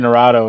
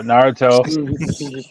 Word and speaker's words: Naruto: anime my kid watches uh Naruto right is that right that's how you say it yeah yeah because I was saying Dorado and she gets really upset so Naruto and she watches Hunter